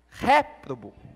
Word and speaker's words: réprobo: Toda vez que ali tem um acento é a sílaba tônica, então é réprobo.